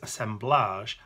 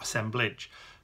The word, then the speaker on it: assemblage: it's referred to as assemblage and not assemblage because it has its roots in collage so that's why we pronounce it with that bit at the end rather than the edge if you like so